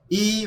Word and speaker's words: eye: 재밌는 건 , 철자 가 E-Y-E 라는 겁 니다 . "identity " 의 약자 인데 , 철자 는 완전히 다르지만 발음 은 같으므로 'eye' 라고 발음 합니다 .